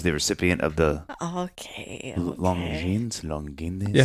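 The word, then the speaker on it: Longines: recipient of the okay long jeans long yeah how do you say that long jeans long je long jeans long jeans it's French again that's what I say it is French long jeans prize for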